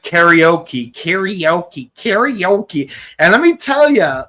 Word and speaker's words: karaoke: Yeah, it is one of those rare words where you do pronounce it very similar because like the correct way to say it is karaoke, which is how I always say it.